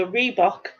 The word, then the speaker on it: rhebok: So what animal is a reebok a species of? and it's spelt not the same way as the trainer, but it's spelt RHEBOK.